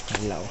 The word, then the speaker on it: Kalao: Bale meron din tayong ah three pronunciation, sir. Kalao, kalaw, and kaliao. Kalaw po is iyung name of a bird where the kalaw derives. Mm. The proper pronunciation po is kalao. Kallaw. Opo. Parang lalagyan mo siya ng N. Kanlaw.